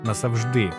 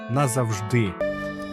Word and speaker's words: назавжди: ласка ще одна пастка хтось каже назавжди але правильно назавжди чому Бо в літературній українській мові на голос падає на останній склад А ось тут цікаво